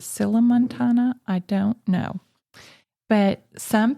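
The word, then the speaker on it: sillamontana: Um I think it should be pronounced siamontana. Okay. But it has two L's. So perhaps you would pronounce it sila montana.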